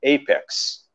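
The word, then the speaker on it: apex: যেরকম প্রথম শব্দটাকে আমরা অ্যাপেক্স বলি, এটা কখনোই অ্যাপেক্স শব্দটা না, এটার উচ্চারণটা হবে এখানে এই, এপেক্স, ব্র্যান্ড হিসেবে আমরা চিনি, বাট অ্যাপেক্স মানে হচ্ছে চূড়া যেটা আমরা বলি, ঠিক আছে?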